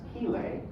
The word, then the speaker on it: chelae: I pronounce the little crab-like, pincer-like claws as chelae with the hard CH, but I usually refer to these as chelicerates.